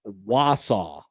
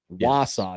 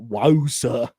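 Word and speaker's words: Wausau: Uh, Husker Country says it's Wasau. Wasaw, not WSA.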